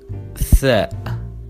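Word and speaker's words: ث: And we pronounce it tha, th, like you say 3.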